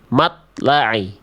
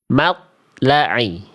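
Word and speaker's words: مطلع: Di kalimat ini, to sukun tidak memantul dibaca seperti ini. Matla'i. Matla'i.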